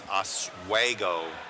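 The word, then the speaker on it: Oswego: um he's from uh I was saying it wrong it's aswo Illinois around that area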